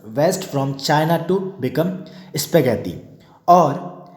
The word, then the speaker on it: spaghetti: It is believed that noodles traveled west from China to become spaghetti, और या spaghetti बोलते हैं इसको, साइलेंट हो जाएगा हमारा।